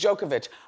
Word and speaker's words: Djokovic: Yeah, I don't want to say it wrong. His name is Djokovic.